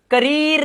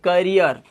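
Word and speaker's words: career: इसे अब करीर नहीं पढ़ेंगे। करियर engineer चीयर dear.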